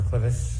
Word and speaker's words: clivus: Were you a presenter in fractures of the clivus, clinical and radiographic features? Yes. Am I pronouncing that correctly?